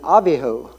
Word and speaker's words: Abihu: Fire now nadab and abihu it's actually nadav and avihu is the Hebrew pronunciation these were the the